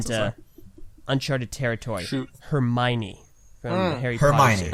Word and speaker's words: Hermione: Hermione from Harry Potter Hermione.